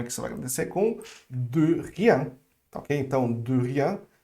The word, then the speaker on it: de rien: Mas é só um pequeno detalhe, essa pronúncia aqui era bem mais fechada, é um de, ok? De rien. Não é do rien, mas é um e fechado, beleza?